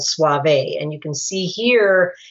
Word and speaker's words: Soave: I got this off of the trade website for Soave, and it's pronounced Soave.